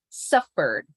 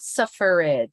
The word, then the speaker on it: suffered: in the first syllable ignore the the last one suffered not suffrage suffered suffering suffered from the r to the D suffered it was Crow's